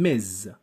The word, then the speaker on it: Ms: by titles we mean mr miss mrs and miz i will repeat because it's very important how to pronounce is important number one mr mister number